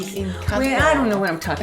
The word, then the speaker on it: Encanto: it's a T-O. Okay. Even though it's D-O, it's T. Encanto.